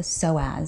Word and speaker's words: psoas: of us may have heard of called the psoas. So it's spelled P-S-O-A-S, and it's actually paired with another